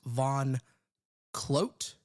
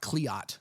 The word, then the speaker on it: Von Clote: So at Von Clote is how you actually pronounce it. Okay. Not Cleot, like I said.